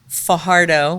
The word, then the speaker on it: Fajardo: hickey recording live from Fajardo which I just understand I'm not saying it right I'm supposed to roll the r and I don't know